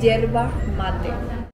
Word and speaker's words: yerba mate: Yerba mate.